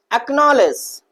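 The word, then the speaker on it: acknowledge: Block, back, एक्नॉलेज, और कहता है कि जब क्यू से पहले आया हो, कहां आया हो भैया, क्यू से पहले आया हो, तो वहां पर भी हमारा सी क्या होता है, साइलेंट होता है।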